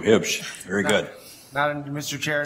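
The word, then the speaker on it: Huebsch: I don't pronounce the U. Hibsch.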